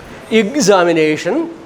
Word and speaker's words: examination: pronounced as IGS, IGS, examination, examination, exactly, exasperation. Most of the EX beginning words in English are pronounced with IGS, IGS.